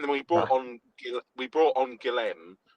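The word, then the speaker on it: Guilherme: we brought on Guillem or Mm. Gilheme, as they pronounce in the stadium today, Oh, like very good.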